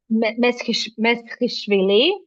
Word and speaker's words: Meshkishvili: Meshkishvili, that's how it should be pronounced.